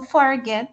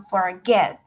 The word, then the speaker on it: forget: y yo no digo forget sino forget cierto entonces la acentuación está al final en la segunda sílaba cuando ocurre esto también